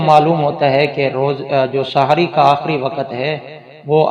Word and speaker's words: سحری: اس کا صحیح تلفظ سحری ہے، سحری، سین پر بھی زبر ہے اور ہا پر بھی زبر ہے۔ یہ سحر سے ہے، سحر رات کے آخری حصے کو کہتے ہیں، تو سحری اسی سے ہے، اس کا معنی ہے رات کے آخری حصے کا کھانا۔ تو اس کو جو سحری کہتے ہیں یہ اس کا درست تلفظ نہیں ہے۔ باقی یہ بات یاد